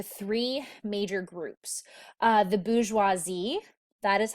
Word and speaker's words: bourgeoisie: is divided into three major groups uh the bourgeoisie that is how you pronounce that word bou join z do not say borgioice um on our call or i will fire